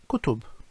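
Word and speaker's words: كُتُب: And finally, kutub, which means books.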